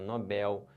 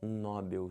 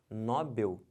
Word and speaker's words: Nobel: da Paz um prêmio Nobel em química e não um prêmio Nobel se você falar Nobel ferrou tudo errou tudo aí